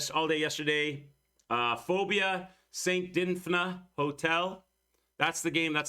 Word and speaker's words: Dinfna: Okay, St. Dinfna, so I'm not saying it wrong. That's how they say it.